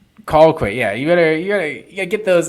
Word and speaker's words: Colquitt: Colquitt. Colquitt. Yeah, you gotta get those get that Georgia pronunciation wrong.